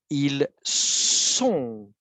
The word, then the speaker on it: ils sont: Ne confonds pas avec ils sont. Ça se prononce de manière plus forte, ok? Ça, c'est S normal.